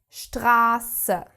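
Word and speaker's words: Straße: If we have this s set after a vowel, the vowel is prolonged. Example stra which means street. Maybe you have seen that stra the sound becomes so long because we have this set following.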